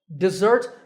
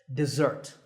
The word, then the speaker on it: dessert: the first syllable desert desert with an e sound and with the stress on the second syllable desert it's really simple but